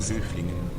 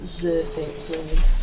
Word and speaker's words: Söflingen: Nächster Halt, Söflingen, Mitte. Söflingen. That's what it's. That's how it's pronounced. Söflingen.